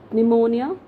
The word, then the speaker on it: pneumonia: next word it's p-n-e-u-m-o-n-i-a how do we pronounce it it's is it pneumonia no it's pneumonia right so are you